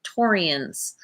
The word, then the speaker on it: Taurians: I am here to do a love reading for single Tauruses, Taurians. That's the right way to say it.